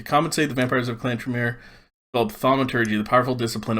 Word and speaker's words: Tremere: Tremere is how we would pronounce it. Tremere.